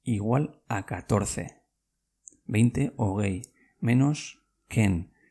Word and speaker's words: hogei: Hogei. H-O-G-E-I. Hogei. Venga, ¿cómo se escribe 11 en euskera?